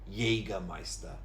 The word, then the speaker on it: Jägermeister: It looks like Jaeger because it's a J, but it's actually jägermeister with a y sound. Jägermeister.